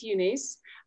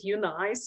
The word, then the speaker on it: EUNICE: Actually, we pronounce it UUNICE. Or you can pronounce it UNICE or however you want to, but this stands for European University for Customized Education.